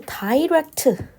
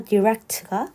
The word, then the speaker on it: direct: 됩니다 자 이거 발음을 다이렉트 또는인 다이렉트 하게 되실 경우는 영국식 발음이 됩니다 영국식으로는 다이렉트가 되는데 우리는 일반적으로 미국식 영어로 많이 발음을 하니까 direct가 좀 더 올바른 표현이